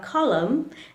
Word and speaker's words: column: However, the letter N likes to remain silent if it is followed by the letter M. For example, in words like dam, autumn, or column, the letter N remains silent.